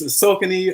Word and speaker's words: Saucony: Well, people pronounce it wrong. It's Saucony or Saucony.